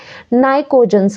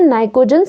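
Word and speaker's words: pnictogens: ठीक है, तो इसे कहते हैं नाइट्रोजन फैमिली भी बोल सकते हैं या फिर हम इन्हें कहते हैं नाइकोजन्स। क्या कहते हैं, नाइकोजन्स। पीस में साइलेंट है।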